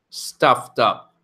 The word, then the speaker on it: stuffed up: be I'm stuffed up stuffed up and notice the pronunciation it kind of sounds like stuff duck stuff dump so that's kind of how it breaks down stuff tough work on